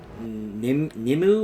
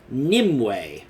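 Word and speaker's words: Nymue: Now, I thought this boss's name was pronounced, like, Nimu or Naimu. Then I heard and was told that it's actually pronounced Nimue.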